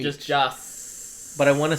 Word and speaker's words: Joss: How do you say Josh? Joss Whedon.